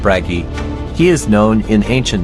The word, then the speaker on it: Bragi: bragi is pronounced bragi he is known in ancient Norse sources as